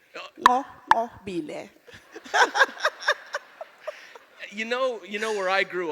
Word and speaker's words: Nqobile: You'd say it properly. Nqobile. You just have to click. Nqobile.